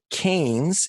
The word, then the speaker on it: Cairns: was the northern part of Australia, and they pronounce it Cairns, even though it looks like it's spelled Cairns.